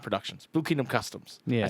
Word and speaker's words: Blue Kingdom Customs: Blue Kingdom Customs, not Productions. Blue Kingdom Customs. Yeah. I said the name wrong.